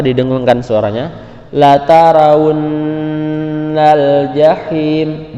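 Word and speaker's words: الجحيم: La taraun al jahim. Jahim ada huruf H, maka ketika dibaca suaranya tipis. Jahim, jangan jahim. Nah, hati-hati tertukar. Jahim dengan jahim itu beda. La tarawunnal jahim.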